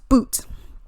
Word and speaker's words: Bout: So we got Victor Bout, even though it looks like Bout, it's pronounced Boot.